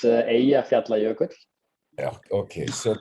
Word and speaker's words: Eyjafjallajökull: I was gonna ask you to pronounce that. Yeah, so it's Eyjafjallajökull.